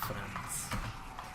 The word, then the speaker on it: Franz: A lot of people thought my name was pronounced Frank, but it was Franz. With a C, not K. A hard C.